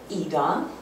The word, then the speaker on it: Ida: the thing is is um my name is AA it's spelled Ida but the German Way of pronouncing